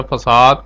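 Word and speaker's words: façade: फसाद pattern pronounce है फसाद।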